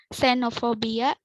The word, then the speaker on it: xenophobia: X at the beginning of a word is pronounced as Z, not as KS. For example, xenophobia, xenophobia or xenophobia, or sena or zina, a functional character.